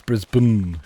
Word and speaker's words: Brisbane: There is no annunciation of anything in between those the the thing before the N. All of that stuff is absent. It is just it's it's kind of Yeah, it's Brisb Melb.